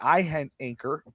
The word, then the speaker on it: Iheanachor: Is the I silent? That would make it easier for me. Yeah. Iheanachor.